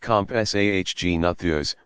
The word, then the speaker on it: Compsognathus: The smallest of them may have been the Compsognathus, pronounced Compsahgnathus, which was only about as big as a chicken.